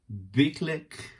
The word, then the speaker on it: BYGGLEK: are two of the lego meets ikea big click i think it's pronounced products they released today